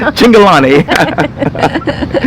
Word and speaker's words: Cingolani: Cingolani. Oh, okay. I'm bad with pronunciations. Cingolani.